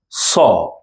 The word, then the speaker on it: ص: looks like this and we pronounce it as saw don't Infuse this sound with Lita say from the previous group let us say is very soft say SE you will